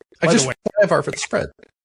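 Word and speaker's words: ajvar: Ivar for the spread. Ivar is spelled A J V A R. Okay. Because remember in Latin J is a Y sound.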